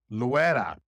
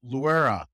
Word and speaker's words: Luera: My very special guest today is Luera. Unless you're white, then it's Luera.